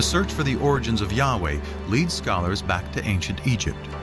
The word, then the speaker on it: Yahweh: sense was God and his name was these four letters which in English would be YH wh which we think were probably pronounced something like Yahweh but Yahweh only appears